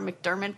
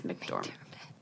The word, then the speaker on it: McDormand: mcdormand yes francis and i always call her mcdermott but that's not it's mcdormand what about her she's